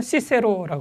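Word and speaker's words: Cicero: 자, 서양에서는 그 영어권에서는 시세로라고 그러기도 하고요. 키 발음 잘 안 써가지고 그래요. 자, 그런 사람이 쓴 책입니다. 거기 1장의 맨 앞에 키케로가 요거 아티쿠스에게 요 책을 바쳐요.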